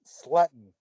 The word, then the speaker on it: Slayton: the wrestling enthusiast, Slayton. How are you? I'm good, man. I'm good. Sutton. God, I don't know what my name is with names Actually, recently. actually pronounced Sletton. Slayton. That's it.